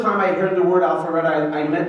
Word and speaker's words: Alpharetta: The first time I heard the word Alpharetta, I pronounced it the way Rabbi Jacobson pronounced it, Alpharetto.